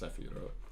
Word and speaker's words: Sephirot: It's pronounced Sephirot, though.